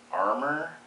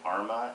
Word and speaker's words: Arrma: my new kraton uh according to the website they want you to pronounce it armor but everyone calls it Arma a r r m a anyway it's an armor